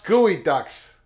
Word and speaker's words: geoducks: barcus comes in with geoducks pronounce gooey Ducks oh I'm sorry gooey ducks I don't pronounce any